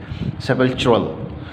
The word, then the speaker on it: sepulchral: ठीक है, जहाँ जो इसके स्पेलिंग है वो ये हैं, एक ये है और एक इसके अल्टरनेट स्पेलिंग जो हैं जो यहाँ पर है SEPULCHRAL, सेपल्चुरल।